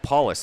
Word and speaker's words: Paulus: on the far side paulus excuse me it's spelt like police with an extra l it's paulus i'm gonna get a